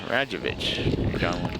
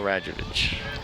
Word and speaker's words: Radjevic: We apologize to the family for pronouncing his name wrong. We have somebody in between innings. Kyle Radjevich. Maybe Radjevic, I think he said. Radjevic, right. You're right. I'm sorry. It is VIC.